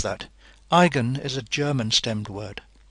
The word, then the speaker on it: eigen: a name they're called igen vectors of the Matrix a notice how I pronounce that Igan is a German stemmed word the EI is pronounced I in German igen has to do